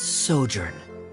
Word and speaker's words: sojourn: everything clear uh director zosimos how do you pronounce this word let me see Ah that's sojourn it means to stay for a while this